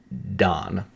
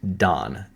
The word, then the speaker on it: Dan: tribe that is pronounced, it says Dan, but it's pronounced Don. When we see the tribe of Dan, it's pronounced Don, like how we would say D O N.